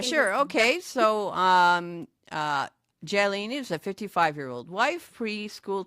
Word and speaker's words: Jalene: Jalene. Yeah, Jalene.